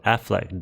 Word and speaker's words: Aflac: It's called the My Special Affleck duck. Nothing to do with Batfleck. It's spelled AFLAC.